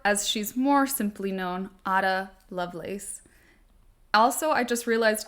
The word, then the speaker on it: Ada: pronounce her name a I think some folks see that spelling and pronounce it Ada um but my mom's name is Ada and it's spelled this way too and it's spelled this way so I just can't fix that in my brain I'm pretty sure she would have pronounced it a though um because a I think is a very American